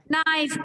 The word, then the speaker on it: knife: Knife, K is silent।